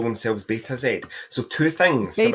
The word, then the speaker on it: Betazed: what it says, but the nontruckies read it as be tased. Be tased. That is I'm going to say that from now on. Be tased. They think you're a cop. Exactly. They're like, "Do you like being tased?" I'm like, "No, it's Beta Zed."